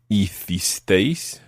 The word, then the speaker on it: hicisteis: The you plural in Spain form is hicisteis. Hicisteis. Hicisteis. Hicisteis. And the they form is hicieron. Hicieron. Hicieron. Hicieron. So that's the they did. We did. You all did. They did. Hicimos. Hicisteis.